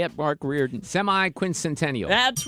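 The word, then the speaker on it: semiquincentennial: Semi-quincentennial.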